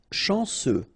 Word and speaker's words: chanceux: Chanceux. Final X not pronounced. And then remember, C, E, U will give you this se sound.